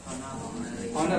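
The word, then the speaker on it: honor: हॉनरेरियम to visiting faculty, हॉनरेरियम to visiting, पहले तो pronounce करना समझ उसको, क्या लिखा है? इसमें वर्ड है ऑनर, ऑनर।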